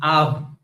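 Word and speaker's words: אב: The word Av, father, is written as Aleph and Bet because the word was pronounced as Av.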